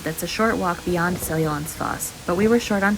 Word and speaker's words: Seljalandsfoss: We made it to Seljalandsfoss, and that's how you pronounce it, not like Seljalandsfoss.